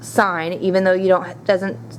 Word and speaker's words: sine: represented as s i n a and it's pronounced sign even though you don't doesn't have the E